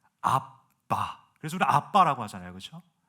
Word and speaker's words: 아빠: 대한민국 이 한글이 가장 원어적인 발음에 가깝다고. 아빠, 아바 no, 아빠.